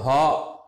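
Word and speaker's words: ح: இது ஹா, வயிற்றுல இருந்து வெறும் காற்று மட்டும்தாங்க வரணும். ஹா ஹா ஹா அப்படிங்கிற உச்சரிப்பில் மட்டும் வரலாம்.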